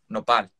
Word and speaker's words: nopal: developing this is, it's called here in Mexico, nopal, and it's spelled N-O-P-A-L, nopal cactus.